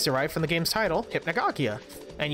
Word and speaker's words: Hypnagogia: My name, is derived from the game's title, Hypnagogia, and you pronounce it Hypnagogia. Ah, Hypnagogia?